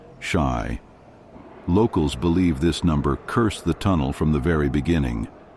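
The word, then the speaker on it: 死: In Japanese culture, the number 4 is associated with death, as it's pronounced the same as the word for death, shy.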